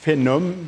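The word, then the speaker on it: faenum: Alors, en latin, phénom, mais écrit F-A-E-N-U-M, comme ça, veut dire foin. Donc, si on le prononce, ça donne phénoculture.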